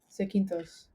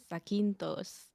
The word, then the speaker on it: Zakynthos: How do you pronounce that place? Sequintos. Zakynthos.